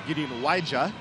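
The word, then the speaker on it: Gideon Waja: The Toronto pronunciation guide says Gideon Wadja, so make sure we get that right moving forward.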